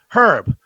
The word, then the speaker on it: herb: Herb, pronounce the H.